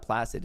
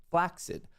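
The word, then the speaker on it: flaccid: But yeah, the actual pronunci pronunciation of this is not placid, it's flaxid.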